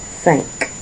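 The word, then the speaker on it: cinq: for me okay so now you have five sank so make sure that was your pronunciation sank next we have 16 says.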